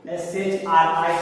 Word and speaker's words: Shri: Pronunciation is same. What? Shri. See, this one is the basic one, but you should know this. S-H-R-I, Shri. And another one is S-H-R-E-E, Shri. So what is the difference between these two words? Both pronunciation is Shri.